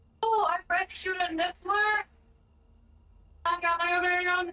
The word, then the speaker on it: Niffler: Oh, I rescued a niffler. I got my very own niffler. You rescued a nippler.